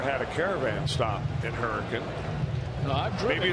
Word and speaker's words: Hurricane: came into the game, I had made the mistake of saying he was from Hurricane. That's the way it's spelled, Hurricane, West Virginia. When in actuality, that's not how they pronounce it in West Virginia, correct? Hurricane. Hurricane.